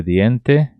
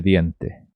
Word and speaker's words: diente: Não confundam aqui esse D com D. Pessoas vão falar dien. E não é dien, é diente. Cepillo de diente.